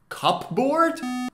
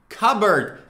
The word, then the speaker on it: cupboard: say it cup board cupboard no it's actually cop bird cupboard pay attention p is silent sh car bird cupboard cupboard it's a piece